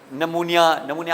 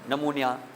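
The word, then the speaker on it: pneumonia: ये P silent है, ये वैसे आपको पता होगा, ये इंग्लिश ग्रामर और इस लैंग्वेज की का उसूल है कि अगर पी के बाद कोई वॉवेल ना आए तो पी साइलेंट हो जाता है। बहुत सारे हैं ऐसे, साइकोलॉजी। अब ये है नमूनिया आपने सुना होगा, नमूनिया, और भी बहुत होंगे।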